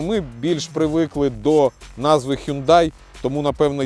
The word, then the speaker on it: Hyundai: правильно вимовляється назва компанії спеціалісти кажуть що правильна вимова hyundde но ми більш привикли до назви Hyundai тому напевно я й